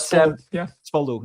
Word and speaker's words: Spolu: Spo I'm probably pronouncing it wrong, but Spolu.